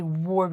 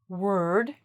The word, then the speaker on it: -ward: We don't actually say "ward", we say "word".